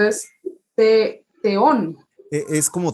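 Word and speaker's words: θεόν: español como tal pero es una t con h al mismo tiempo Z Z explosiva cárcel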